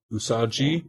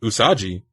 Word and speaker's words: usagi: definitely right about okay so U as an udon let's see rhymes with blue so u u is right and then sa like soccer and then G oh it's G rhymes with b g usagi usagi yeah that's what it's